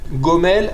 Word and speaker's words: Gomel: Gomel Hasadim Tovim. Gomel, c'est Milera. Ça veut dire que on dit Gomel et pas Gomel. Hasadim, c'est pareil, c'est Milera.